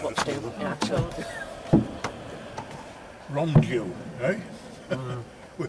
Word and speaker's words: Rondeau: Rondeau, eh? We pronounce it Rondeau, actually.